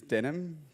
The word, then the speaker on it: Denim: My name is Denim, pronounced like the jeans.